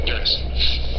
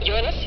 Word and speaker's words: Uranus: I pronounce the planet's name Uranus, which is very likely closer to the original pronunciation of the name of the god after whom it was named.